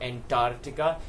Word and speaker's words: Antarctica: of the world is a NT a r c TI CA it is also pronounced that way by the weight is not Antarctica it is Antarctica that's the seventh continent